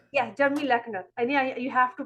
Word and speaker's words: Leochner: It's Jeremy Leckner. Yeah, Jeremy Leochner.